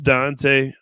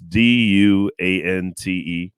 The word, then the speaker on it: Duante: It's spelled all fucked up though. It's Duante. So I get everything from Duante to Duant. I even get Dwayne every once in a while, like the T silent and shit.